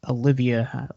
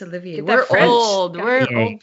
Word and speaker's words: Olivier: also to the gentleman lawrence olivia olivia oliver i think is how you say his name lawrence olivier yes i feel like he